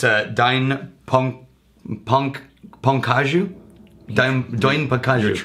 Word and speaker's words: Dai Nippon Kaju: company that I will not even try to pronounce correctly but it's a dine punk punk as you don't join pecans right I'm guessing you're trying